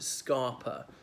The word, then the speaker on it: scarper: But scapper flow or scapper was then tended to, people used to pronounce it scarper, spelt S-C-A-R-P-E-R.